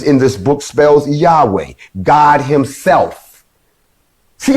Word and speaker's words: Yahweh: letters and it spells y a w h pronounced yahweh which is the hebrew